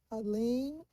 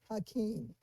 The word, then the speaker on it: Halim: We were saying Halim, and someone wrote you should be calling him Hakeem. So we got a thank you card from him, and this is how he signed it. Abdul Halim Muhammad. So I just want to let that person know that we were not mispronouncing that name. His middle name is Halim.